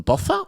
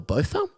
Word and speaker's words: Botha: The detective, which I believe is pronounced Hilton Bother or Botha, a 24year veteran of the force, thought that it was a domestic violence case that turned into murder.